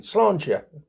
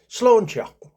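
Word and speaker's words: sláinte: Slauncher or a drinking things like clinking glasses. Slancher. And it's um it's spelled s l a i n t e but pronounced slawn s l a w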